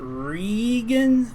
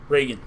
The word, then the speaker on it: Reagan: Now is it Regan, like EE, or Reagan, like Ronald?